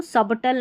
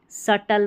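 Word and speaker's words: subtle: और यहाँ इसको सबटल नहीं, सटल पढ़ते हैं। क्या पढ़ते हैं? सटल।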